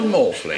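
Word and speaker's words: Maughfling: and Stonehenge whose name is rol morling R morling it's spelled m a u g h f l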